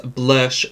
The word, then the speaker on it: Blursh: Also from Made by Mitchell, I did pick up his Blursh book. He does say Blursh, and that's how this spelt and sold.